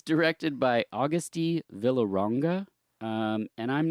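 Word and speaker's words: Agustí Villaronga: It's directed by Augusti Villaronga, and I'm not good with Spanish, so correct me on any pronunciation.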